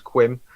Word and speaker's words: Quim: But I think you pronounced his name wrong. His name's Quim.